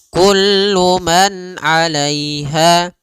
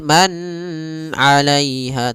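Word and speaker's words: كُلُّ مَنْ عَلَيْهَا: Kullu man alaiha. Dan nunnya tidak boleh ditahan, tidak boleh man alaiha tapi kullu man alaiha langsung.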